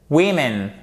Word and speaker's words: women: Faites attention. Women. Ici, vous avez l'accent tonique toujours sur la première syllabe. Là, on passe d'un ou court à un i court. Et le i court, comme ceci en phonétique, il ressemble beaucoup au E accent aigu.